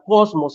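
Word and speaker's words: κόσμος: Empieza con una omicron, empieza con una sigma, cos, empieza con una mu y termina con una cisma, cosmos, se pronuncia dentro de la morfología griega, cosmos, cuando dice que a Jesús lo seguía todo el mundo.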